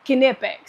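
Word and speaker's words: Knipex: put nipex like the you do pronounce the k so that's what I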